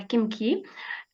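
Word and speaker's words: Khimki: Là, je me demandais comment prononcer Kimki ou Himki. Mais apparemment, pour faire simple, c'est Kimki en français.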